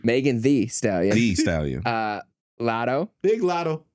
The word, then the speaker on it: Megan Thee Stallion: Megan Thee Stallion.